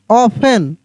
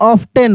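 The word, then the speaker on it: often: एफ टी ई एन ऑफेन यहां पे देखिए ऑफन ऑब्टेन नहीं बहुत सारे लोग बोल देते हैं ऑब्टेन प्रायः नहीं ऑफन ठीक है ना देखिए सी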